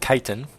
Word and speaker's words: chitin: Notice I pronounced it chitin. I actually know that that's how you pronounce it.